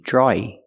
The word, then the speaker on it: drawing: the continuous action, he's drawing a blank. Pronunciation, drawing. Drawing. Do not pronounce a W, there's no W sound. It's the sound aw plus E. Draw, E, draw-y, drawing.